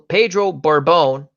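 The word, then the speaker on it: Pedro Borbón: they have a bunch of pictures bettan old-school Pedro Borbon who I finally pronounce his name right Tom browning play Carroll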